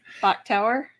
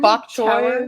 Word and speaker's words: Bok Tower: Bach Tower. I'm sorry? Bach Tower. What's Bach Tower? Bach? It is, Is it a like Carillon Bok tower. choy on a tower? Spelled the same. B-O-K.